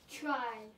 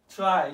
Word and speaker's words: trie: accent on it try try as t-r-y okay try the same pronunciation try okay so what